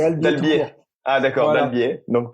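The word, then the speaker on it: Albiez: Ouais, alors on prononce pas le Z, c'est Albier.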